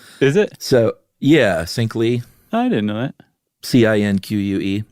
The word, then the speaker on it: Cinque: it matume matume and it might be Cinque oh really yeah because they were super into Che Guevara and the Cuban Revolution so anything that looks even remotely Spanish is probably pronounced like that okay well I don't know Spanish so I'm gonna pronounce it like Spike Lee style okay I think that's